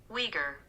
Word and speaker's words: Uyghur: know how to say the word let's see wieger that's what it says it is the u-i-g-h-u-r is pronounced uyghur the uyghur people that's and that's the people